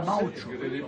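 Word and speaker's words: maoche: La moche en français, ça s'écrit M-A-O-C-H-E, et on dit en patois la maocho.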